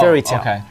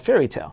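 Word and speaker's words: Fairy Tail: was called fairy tale fairy tale is called is spelled t a i l it's not like a fairy tale okay basically fairy's tale no it's not fairy's tale okay basically it's a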